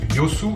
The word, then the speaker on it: Yeosu: Ensuite, encore plus au sud, direction la ville de Yeosu, qui s'écrit Yeosu mais qui se prononce Yosu il me semble.